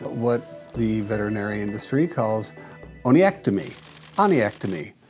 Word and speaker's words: onychectomy: The solution at the time was what the veterinary industry calls oniectomy. Spelled right here because I always have problems pronouncing it. Onychectomy.